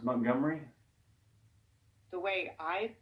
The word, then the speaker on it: Montgomery: It's about how you pronounce Montgomery. The way I pronounce Montgomery? You might want to try saying Montgomery. Montgomery. Montgomery. Montgomery. No, it's 3 syllables, not 4.